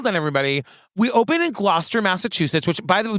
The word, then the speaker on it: Gloucester: a documentation well done everybody we open in glester Massachusetts which by the like just coming from Massachusetts Gloucester is so beautiful yeah it's it's spelled like